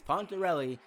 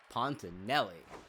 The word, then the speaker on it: Pontorelli: right from now on it's pontorelli not pontinelli as that is one